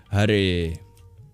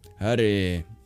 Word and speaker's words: Hare: And then there's the R, which is retroflex instead of the approximation we make in English, which means you curl your tongue back and you add breath to make it trill a little bit. Hare, Hare. Sometimes it feels like you're saying, hooray! That's funny.